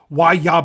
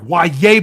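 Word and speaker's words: Yahya: Uh um Ya Black or sorry, Yaya Black.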